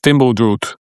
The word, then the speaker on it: Fimbuldraugur: It is Fimbuldraugur. That was pretty good, Norbert. Thank you. Yeah. In Icelandic, apparently it's pronounced Fimbuldraut.